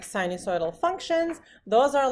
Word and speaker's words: sinusoid: How do you say it? Sinusoid. It's a sinusoid. Sinusoid. It's like, a dinosaur.